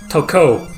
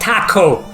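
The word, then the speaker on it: Tokko: Although it's pronounced toco, not taco.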